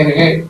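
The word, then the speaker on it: Hergé: Que se le dice Ergué porque cogen la segunda, la primera sílaba de Remy, que se pronunciará R, y la primera del nombre, que se llama George G, que nace en 1907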